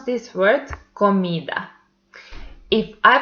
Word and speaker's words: comida: And the last example is comida and the second syllable is the stressed one. In this example, we will see why is this second one the stressed syllable. So we pronounce this word comida.